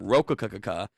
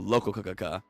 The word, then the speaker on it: Rokakaka: They changed up the pronunciation from Rokakaka to Lokakaka.